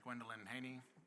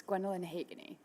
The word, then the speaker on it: Gwendalyn Hageny: Uh our next speaker is Gwendelyn Haney and please correct me if I've mispronounced the last name. Uh that speaker will be followed by Sher Warm, Sir, it's Gwendalyn Hageny.